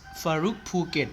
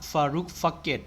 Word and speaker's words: FaroukPhuket: Is pronounced Farouk Phuket, not Farouk Phuket, okay?